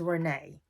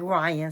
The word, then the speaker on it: Rayne: I think her name they pronounced it on the show as Renee but it looks like Ryan so excuse me for